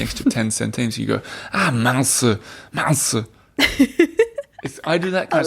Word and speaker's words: mince: goes wrong, they say mince. Mince. And it's spelt mince, like M-I-N-C-E. Like mince meat?